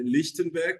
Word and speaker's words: Lichtenberg: seu escritório eh Enfim meu nome é lichtenberg pronunciou muito bem obrigado vez melhor e h enfim